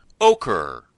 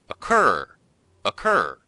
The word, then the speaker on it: occur: However you say it, dear listeners, be sure to put the stress on the second syllable, not the first. That's important because sometimes students say ochre.